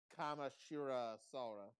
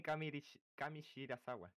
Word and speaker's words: Kamishirasawa: Why is it so hard for you to pronounce Mizuchi Mia Taguchi? I don't know. It's so easy. Mizuchi Mia Taguchi. Kene Kamashira Sora. We know. Kamishirasawa. Kene Kamishirasawa.